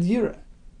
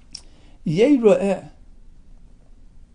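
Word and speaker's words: יֵרָאֶה: Now the term yeira'eh can be read yireh, right? Because in its spelling, it's Yud Reish Aleph Hey. So it's spelled like yireh. He will see others. Yeira'eh is the way we actually read it.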